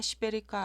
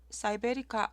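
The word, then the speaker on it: siberica: 오늘 보여드릴 이 흰색의 꽃은 쉴라 시베리카 알바입니다. 우리나라 종묘사에서는 시베리카라고 하고 외국에서 올라온 영상에서는 사이베리카라고 발음하시는 분도 있었어요. 2020년 10월 7일에 쉴라 사이베리카 알바 구근 5개를 심었습니다.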